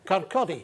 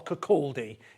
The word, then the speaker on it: Kirkcaldy: Yes, born up in Kirkcaldy, the Lang Tomb. They were? Kirkcaldy, to pronounce it kind of correctly, or Kirkcaldy if you're south of there.